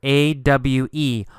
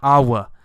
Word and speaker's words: awe: A-W-E. Awe. It's pronounced awe. Awe. Awe. You don't actually say a W sound. There's not awa. No, it's awe.